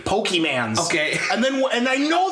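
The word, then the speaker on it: Pokémon: um if you say the word poke man and not and not like Pokemon or Pokemon or like anything that's close to the way it's supposed to be pronounced just go ahead and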